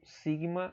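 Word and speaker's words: σίγμα: E aqui você tem o sigma maiúsculo, tá? Sigma. Essa é a pronúncia dele. Você tem uma outra letra T no grego, tá?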